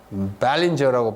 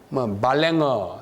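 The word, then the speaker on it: Ballenger: 미국에 와가지고 벨린저라고 발음합니다. 원래는 발랭어 이렇게 발음했어요.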